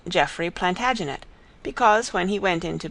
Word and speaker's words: Plantagenet: covered with his visor the Latin name for broom is planta janista and gradually it came to be pronounced Plantagenet although Geoffrey was French